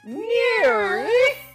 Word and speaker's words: NIIRYF: Those are the letters for the name of the show, and it's pronounced NEAR.